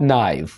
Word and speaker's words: knife: This is a sharp knife. यहाँ पर हम के को साइलेंट रखेंगे।